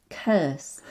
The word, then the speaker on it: curse: ah but no because the u r in curse is pronounced like uh so it's curse and the additional difficulty